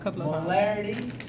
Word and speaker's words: molarity: One is called molarity, the other is called molality.